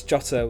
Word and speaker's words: Jota: Jota also has the Chelsea game, that's Jota with a J not a Y, thank you those who have corrected my pronounciation.